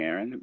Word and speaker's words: Ehren: It's not the typical way of spelling Aaron.